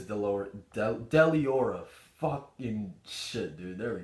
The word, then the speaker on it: Deliora: I feel like it is Deliora.